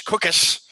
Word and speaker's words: Cookus: danny etling and and case rhymes with tucus cookis um chris gates has